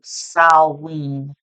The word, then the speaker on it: Samhain: I actually had a viewer who made a comment and said that it's pronounced as Salween. Me personally, I say Samhain, but I looked it up, and depending on what part of the world, 11:11 on the timer